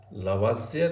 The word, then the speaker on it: Lavoisier: पहला जो नियम है इसको बोलते हैं लावाज़िए तथा लाप्लास नियम।